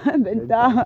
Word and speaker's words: venta: Bang, venta. Venta. Bah oui, c'est vrai, le V, ça se prononce B.